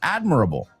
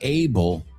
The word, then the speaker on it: admirable: Like, that's admirable. The word admirable. We don't say able. Admirable. ¿Cómo se dice todo? A bull. Ible, hable is a bull.